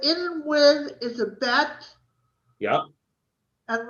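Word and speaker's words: ב: If it has a dot, it's a bet. Yeah. If it has no dot, it's a vet.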